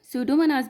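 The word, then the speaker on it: Pseudomonas: are converted by द सूडो मनास bacteria P is silent सूडो मनास bacteria into the nitrogen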